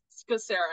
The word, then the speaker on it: Scacera: Scacera, yeah, like Ska and Scacera. then Sarah.